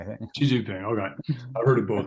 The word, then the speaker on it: Xi Jinping: how are you going to out-negotiate Putin and Xi Jinping, right?